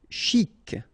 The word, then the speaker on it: chic: Chic, okay, you pronounce the final C, and then CH together, sh, chic.